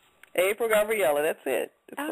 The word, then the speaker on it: April Gabrielle: I'm doing great how are you am I pronouncing your name correctly April Gabriella that's it that's right so uh tell us